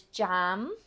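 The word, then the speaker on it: ចាំ: to wait jam and I'm just going to put a short e there um it is a little bit more like an A but for now that pronunciation will at least get you where you need to go Jam Jam Just a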